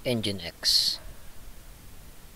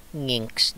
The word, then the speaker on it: nginx: pasok naman tayo ng engine x engine x no or bahala ano kung paano siya i-pronounce no pwede niyang tawaging Ano to eh nginx ' ba nginx or engine x is an http and